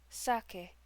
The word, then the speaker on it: sake: Inari Okami, god of sake, pronounced sake.